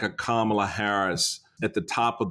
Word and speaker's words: Kamala: It's Kamala, all right? Put the accent on the right syllable, you'll be okay.